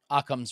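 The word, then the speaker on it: Occam: Aam's razor. A razor. Aam. Do you know how to spell that?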